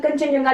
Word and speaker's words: कंचनजंगा: ठीक है, इसकी स्पेलिंग देख के, इसको पढ़ के ऐसा नहीं लगता कि कंचनजंगा लिखा होगा। ठीक है, इस तरह की स्पेलिंग है कंचनजंगा।